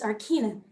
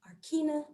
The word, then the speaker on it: Arkena: Wait, I thought you said your name was Arkina. Arkena. Well, potato, tomato, Arkena.